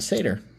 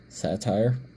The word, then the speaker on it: satyr: Oh, it's a satyr. I finally learned how to pronounce it correctly. Well, how were you pronouncing it before? Satire. That's a completely different word spelled a different way.